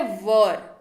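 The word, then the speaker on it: were: इसका उच्चारण वेयर नहीं होता है, कृपया करके इस तरीके का उच्चारण न किया करें। इसका उच्चारण होता है वर।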